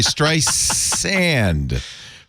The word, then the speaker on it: Streisand: Barbara strand I'm sorry Str sand very important you pronounce it correctly strand like sand not strand I think so apparently